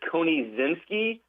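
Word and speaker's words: Konieczynski: Uh I believe it's Con Zinski. Uh because it's spelled Ko N I E C Z Y N S K I.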